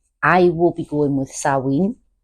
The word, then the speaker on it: Samhain: There's a lot of debate online on how to actually pronounce the Celtic/pagan version of the word. I will be going with Samhain. Samhain.